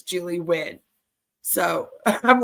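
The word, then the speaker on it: Nguyen: little tiny bubble yeah it's pronounced win so it's it's Julie win that's how allegedly the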